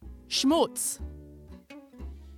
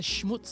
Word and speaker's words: schmutz: what about this one schmutz schmutz that's there's no chance I've mispronounces because it's SCH M double OT Zed schmutz not taking any chances